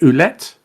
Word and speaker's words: Ouellette: I was just going to say that you had I can never pronounce his surname. You had Carl. Is it Ouellette? PCO basically. Ouellette, yeah.